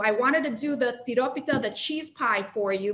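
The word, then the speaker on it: τυρόπιτα: dish pretty much there it is called tiropita can everybody say that with me please you have to roll your r pita in greece uh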